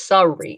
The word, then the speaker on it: Surrey: is it called surrey s-u-r-r-e-y in the uk sorry sorry so it's sorry i wanted to pronounce